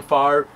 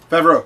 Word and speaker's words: Favreau: Next one, listen, I'm gonna mispronounce his last name because I always do, but John Favre. The director of Iron Man. Favreau.